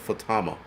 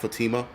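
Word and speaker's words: Fátima: be removed but what fatama suie says it's pronounced fatama not Fatima all right 104 the miracle of Fatima movie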